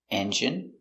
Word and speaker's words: engine: Words ending in ine can have different pronunciations. All of these have the sound in. Imagine, examine, engine, discipline, feminine, and masculine.